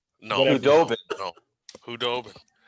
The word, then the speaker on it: Khudobin: Hoboden. No. Hudobin. No. Hudobin. It's the D before the B.